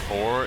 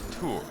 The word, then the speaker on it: Tor: But yeah, apparently it's not Tor, it's T-O-R. But from what I could hear, it's pronounced like tour, as in school tour.